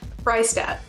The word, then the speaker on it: Fraistat: and Samantha, and today we have author and Fraistat here to join us. Is that how? Am I saying your last name correctly? Fraistat.